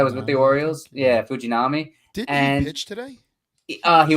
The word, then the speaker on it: Shintaro Fujinami: Ottavino, but there are some other guys like Shintaro Fujinami. Is that how you pronounce his name? Yeah, the Japanese guy was with the Orioles. Yeah, Fujinami.